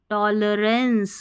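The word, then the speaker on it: tolerance: We should demonstrate टॉलरेंस एल ई को ली नहीं पढ़ना है। टॉलरेंस देखिए रेंस पढ़ेंगे आर ए एन सी ई को टॉलरेंस यानी कि सहनशीलता सहन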